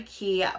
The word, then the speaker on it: Quay: can see super cute that's the key right there that's how it's spelled so let's see they